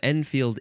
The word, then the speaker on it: Enfield: The next word is enfield rifle.